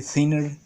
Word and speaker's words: thinner: tengo la opción del cner cner es thinner se dice thinner eh Solo que en Latinoamérica se pronuncia cner que también es a